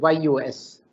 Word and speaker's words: jus: justice comes from the word j-u-s-j-u-s which is pronounced as you know as use use as if it is yus to all of us in the legal profession